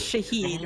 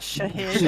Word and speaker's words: Shahed: The So, it's it's pronounced shahed, right? Not shahid.